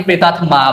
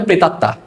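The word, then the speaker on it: প্রেতাত্মা: অনেকে প্রেতাতমা বলে। কিন্তু আমাদের বাংলায় এটাকে প্রমিত গোছান হবে প্রেতাত্তা।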